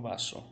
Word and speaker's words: vaso: Uma palavra que a gente vai aprender hoje é a palavra vaso. Lembra o S sempre som de S, hein?